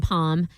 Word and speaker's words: palm: Yeah as is the palm L in palm as is the T in often.